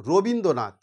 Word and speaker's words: রবীন্দ্রনাথ: হচ্ছে ঝোঁক তাহলে দেখো রবীন্দ্রনাথ আমি যদি এটাকে এইভাবে বলি রো বিন দ্রো নাথ তাহলে কতগুলো ঝোঁক হলো দেখো তাহলে দেখো রো